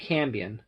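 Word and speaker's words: Cambion: a card you got a cambrian or a cambian it's actually cambian sometimes i'll mispronounce its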